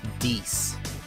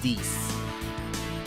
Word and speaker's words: Dies: I know that it says Dies on the channel, sorry. I know it says Dies, but it's pronounced Deese. It's Deese. Okay?